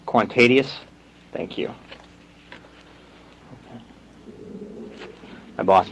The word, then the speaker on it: Kwantedius: your first name for me i know i mispronounce it quan tedius quantadius thank you okay my boss makes me fill